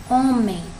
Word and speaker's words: homem: O mais forte, a sílaba mais forte é o O. Então, eu vou circular aqui. Essa palavra ela é uma paroxítona, porque, olha aqui, nós temos men, que é a última sílaba, e a sílaba tônica está na penúltima, né?